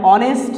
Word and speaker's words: honest: সুতরাং I have used here a before these words, but if the sound H remains silent, if the sound H remains silent, যদি H লেটারের উচ্চারণটা, এই সাউন্ডটা যদি অনুচ্চারিত থাকে, then you must use an.